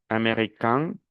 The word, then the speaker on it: américain: Y cuando digo american, nasal, american, el femenino es americaine. Se pierde la nacionalización.